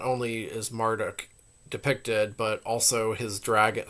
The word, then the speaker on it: Marduk: to spell Marduk huh texts from the old Babylonian period support the pronunciation maruu or marut with the shortened spelling maruk or Marduk attested starting from the cite period his name in Hebrew merod supports the longer version the first Millennium Assyrian